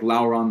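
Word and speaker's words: Llauron: character i like was lauren i think that's how you pronounce it um i pronounce like lauren like sauron but lauren was an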